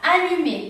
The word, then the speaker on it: allumé: Entonces tenemos aquí la palabra allumé, tenemos UM, pero nuevamente aquí tenemos una vocal, por lo que esta U tiene un sonido normal y tenemos allumé.